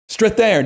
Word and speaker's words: Strathairn: How do you pronounce his name? Strathairn.